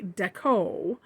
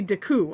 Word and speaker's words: Decoo: how to pronounce this it's based on like art deco design so you could say art you could just say deco or it could be daku i don't know which